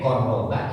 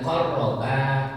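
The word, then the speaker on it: قرّبا: Kalau Bapak bacanya pendek, qarraba yang kurban seorang. Di situ panjang, idza qarraba qurbana. Berarti kedua-duanya berkurban. Tuh, ya. Jadi salah tidak tepat baca panjang pendek bisa mengubah arti.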